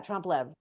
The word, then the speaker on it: trompe l'oeil: Yeah, trompe l'oeil, where you can make a fake it's not even fake.